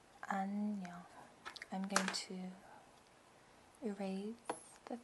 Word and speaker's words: 안녕: And you, if you want to pronounce it, it's 안 안녕. 안녕.